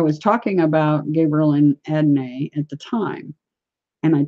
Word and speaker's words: Adonai: So those of you out there pronouncing it Adonai, you're incorrect. His name is Adonai.